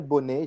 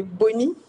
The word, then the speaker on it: Bonee: Alors, Bonnet, j'espère que je dis la bonne prononciation, n'est-ce pas? C'est Bonnie. Bonnie, ok. Bonnie, Parce que c'est Bonnie on va dire stylisé. c'est Bonny.